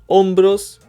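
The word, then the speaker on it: hombros: brain cuello means neck Umbro means shoulder and ombros means shoulders remember that the H isn't pronounced pecho means chest brazo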